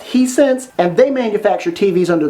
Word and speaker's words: Hisense: The other is a brand that I believe is pronounced Hisense, and they manufacture TVs under the Sharp and Toshiba brand name.